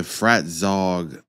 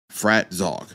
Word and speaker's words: Fratzog: a t z o frat Zog that's I mean that's the only way I can announce it so if somebody tells me pronounce a different way I'll be shocked okay but